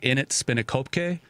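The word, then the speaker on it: In 't Spinnekopke: kind of pronunciation because it's spelled IN apostrophe T is the first word, and then Spinnekopke. So it's like in it Spinnekopke.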